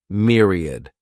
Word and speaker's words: myriad: This word has 3 syllables, and the stress is on that first syllable. Mere sounds like mere, myriad.